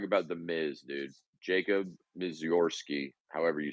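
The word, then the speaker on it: Misiorowski: Jacob Mizorski, however you say his name. Jacob Miserowski.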